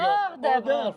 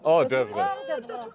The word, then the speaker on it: hors d'oeuvre: Hors d'oeuvre. Hors d'oeuvre.